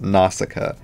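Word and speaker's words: Nausicaä: was just like how the heck do you pronounce this but it's nausicaa yes from after watching the movie um another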